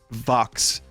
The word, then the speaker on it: Vox: Vox also rhymes with box, which is square.